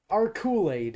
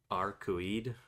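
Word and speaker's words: Arcueid: And the one was so close to just our Kool-Aid. I'm Yeah. like, no, there's no L in that. You're like otherwise correct. I think it's like Arcoid, something like that.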